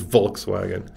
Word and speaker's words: Volkswagen: an f yeah so a w in german a w is a v right so it is volkswagen well i mean where